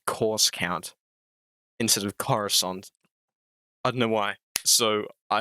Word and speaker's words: Coruscant: I do apologize but from now on in it will be pronounced as Coruscant except this video because